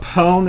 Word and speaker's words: pwned: says opponent anymore but pone is like own so it's like so it's kind of like own sn to dominate i know right pawn is so two thousands